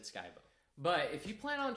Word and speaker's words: Skibo: And yes, it's pronounced Skybo, not Skibo. I've heard both pronunciations. I look, I've been here since I was a kid. I've always said Skybo, but if you plan